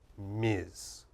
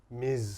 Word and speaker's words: Ms: in business this is what you should use Miz Miz Smith okay okay so those are what we